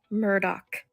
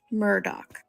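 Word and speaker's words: Murdaugh: have said this earlier it's Alec Murdock Alec Murdock I don't even like to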